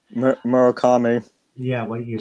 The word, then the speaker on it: Murakami: Your home run leaders right now, uh, we have Aaron Judge and Maraki Murakami, or however you pronounce that name. Murakami.